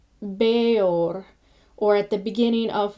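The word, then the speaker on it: Bëor: And these are not run together, but they are 2 syllables. And these are combinations that are written as EA with a umlaut above the E, the 2 little dots, and an EO with an umlaut above the E, as in Beor, or at the beginning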